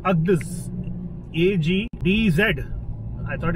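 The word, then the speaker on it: Agdz: Agdiz this time. This city is called, this little town is called Agdiz. A-G-D-Z. I thought it's A-G-D-I-Z, but it's pronounced A-G-D-Z.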